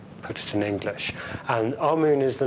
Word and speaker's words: Amun: Now, Amen is the pronunciation that the Hebrews give it, and some scholars agree to use that pronunciation. Amun is the pronunciation given to it by one of the old European scholars, Plutarch.